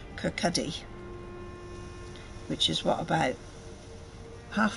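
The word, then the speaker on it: Kirkcaldy: lives in now got to say it right Kirk Cuddy which is what about half an hour's drive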